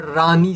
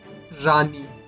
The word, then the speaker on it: Rani: Rani. Rani. So you are talking so you are taking our acronyms and sounding it out phonetically as a word for our name.